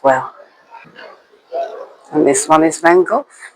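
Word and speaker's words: Van Gogh: And this one is Van Go. Van Go. Say it properly. Van Go. I depend. I thought he was Dutch. I think you can say go.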